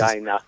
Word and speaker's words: Regina: Regina. Nice. No, that's how it's pronounced.